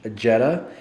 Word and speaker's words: Jedha: unique is for uh jedha uh the H is silent I learned that from